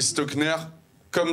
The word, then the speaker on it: Stockner: comme e et stockner comme ça se prononce voilà tu bruit pour